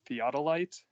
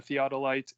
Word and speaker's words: theodolite: And it's called, I'm going to try to pronounce it correctly, a theodolite, I think is how you say it.